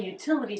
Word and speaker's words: utility: The T here comes between two vowels. That's a flap T unless it begins a stressed syllable, which is what happens here. So it's a true T. Util. Utility. The second T is between two vowels and doesn't start a stressed syllable, so it's a flap.